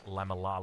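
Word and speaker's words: lamellar: Padded laminar, of course, a padded lamelar. Let's go with Let's get the pronunciation right.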